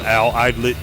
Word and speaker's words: Alaydlett: That's my name, Al Eidlet, number 2, because I'm the second.